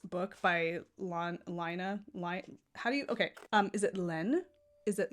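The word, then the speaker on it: laine: It is French for wool.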